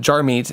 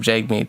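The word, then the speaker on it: Jagmeet: over and over again I said jar meet instead of Jake meet so just a heads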